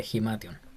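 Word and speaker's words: ἱμάτιον: Tenemos ahora vestido o ropa o manto, Esa es eh, Himation, que sería como, ese tiene, no se ve bien, pero tiene una respiración fuerte, sería Himation.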